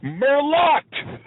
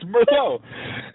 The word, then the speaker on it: Merlot: Mero I'm like what is it he's like Merlot I'm like the te is silent okay it's not Merlot it's Mero then he's like I'm like Chardon how are